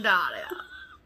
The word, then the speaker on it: Dahlia: Well, that's the correct pronunciation of Dahlia. I'm well aware. It's like the flower, the Dahlia.